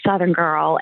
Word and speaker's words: Suthingirl: And so I live in the world of Suthingirl, and it is spelled just like you say it. It's S like Sam, UTHIN, Southern, GIRL.